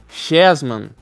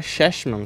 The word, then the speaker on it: Cheshma: do site minha que eu falava chesman chesman tal aí na hora que eu fui ver que como que pronunciava né taquei no Google Tradutor lá ver como é que falava mais ou menos para não falar tão errado e aí eu percebi que era shm Town chesman shm Town enfim